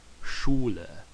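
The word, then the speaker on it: Schüler: language Spanish okay and S and then CH together are going to have that sound okay just like the word Schuler Schuler D Schuler the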